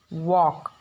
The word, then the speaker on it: walk: In the same way, walk. Here also L is silent.